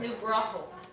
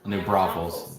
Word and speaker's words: New Braunfels: Is it Braunfels? Is that how you say it? New brothels. New Braunfels. Braunfels? Yeah, Braunfels? it has an N.